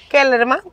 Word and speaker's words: Kellerman: Keyerman. Yes. Kellerman. Pero Keyerman se escribe, está bien.